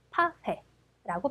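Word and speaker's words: パフェ: 자, 그래서 일본에서는 파페라고 발음합니다.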